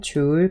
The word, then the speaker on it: 줄: 다음에 단위도 확인하셔야 되는데 대문자 J라고 적고 읽을 때는 줄이라고 읽어요. 자, 전력은 단위 시간당 전기에너지이기 때문에 시간분의 VIT를 해주고 TT가 이제 지워지기 때문에 방정식은 VI 이렇게 나오고, 단위는 W라고 적거나 아니면은 줄 per sec.